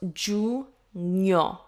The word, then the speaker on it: giugno: This word might be confusing to read because we have G-I-U, which could look like you. So it's giugno, giugno, giugno. So it's a little bit weird to look at, but that's how it's pronounced.